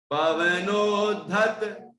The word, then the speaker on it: पवनोद्धत: ये धा है, धा, यहां आराम से धा बोलिए, क्योंकि धा है, वो द्या नहीं है, धा है तो धा बोलो, धा को धा, द्या को द्या, जो अक्षर है उसका वैसा उच्चारण करेंगे तो ठीक अर्थ बैठेगा।